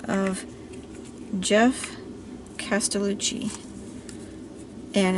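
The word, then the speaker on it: Geoff: by the name of jeff castellucci and it's spelled with a a g e o f f so it's like an old old world spelling of jeff he is amazing he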